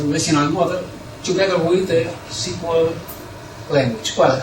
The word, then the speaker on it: SQL: model together with the SQL language. Well, I pronounce SQL instead of SQL because it was the first name for this language.